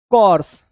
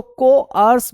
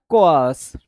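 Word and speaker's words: coarse: तो को आर्स बोलते हैं इसको, को आर्स, ठीक है। इस तरीके से इसका प्रोनाउंसिएशन होता है, कोआस, ठीक है, को आस, ऐसे इसका प्रोनाउंसिएशन होता है, कोर्स नहीं होता, कोआस।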